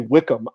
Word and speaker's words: Wycombe: i think it's funny you guys say wickham it's spelled like them that's another one i